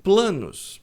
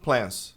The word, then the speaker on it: plan: A maioria das pessoas pronuncia plans. Plans. Tem dois problemas aqui. Esse a tem som longo de e. Já fiz um vídeo sobre isso. Pronúncia das vogais. Quando a tem som de e, tem som de e Paulinho, bota esse link aí na descrição. Então é plano, no singular é plan. Plan e não plan.